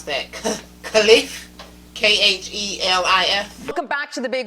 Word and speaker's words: Khelif: Amain, help me pronounce that, Khelif. Khelif.